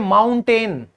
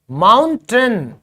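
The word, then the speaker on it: mountain: लेकिन ये बिल्कुल गलत है। सही इंग्लिश क्या है? माउंटेन, माउंटेन, माउंटेन, टन आएगा, ये बनेगा माउंटेन, माउंटेन। टेन तो है ही नहीं, ये देखो अ आ गया।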